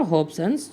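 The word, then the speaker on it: Hobson: अब हॉब्सन को हम थोड़ा सा तोड़कर थोड़ा इसका प्रोनाउंसिएशन देखेंगे। हॉब को तो हम याद कर सकते हैं, मतलब जैसे होता है होप, HOPE, आशा, और सन क्या होता है? SON, ये होता है बेटा।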